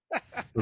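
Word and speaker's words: phở: is this pH o it looks like fo fo but how is that how it's pronounced Chinese food is that pronounced no idea yeah it's like or Taiwanese or something like that kind of food you had it you had it I'm thinking it's kind I'm gonna guess it's kind of like Ramen it's Vietnamese and it's pronounced F fo what is it nood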